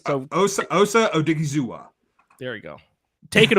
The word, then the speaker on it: Odighizuwa: Because I can't pronounce his name. It's Osa Odighizuwa.